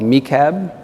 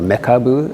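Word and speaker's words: MeCab: that I've used is called me cab or Mecca boo I think in Japanese it's how they say it and the reason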